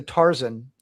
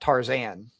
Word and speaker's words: Tarzan: Sometimes In the same way it's also Tarzan and not Tarzan. Oh is it really Tarzan? It's Tarzan, but I don't like that.